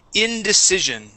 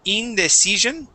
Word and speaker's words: indecision: first up we have indecision okay so I want you to focus on the short eye sound so instead of saying indecision okay using Spanish I okay we're going to use the short I indecision try that indecision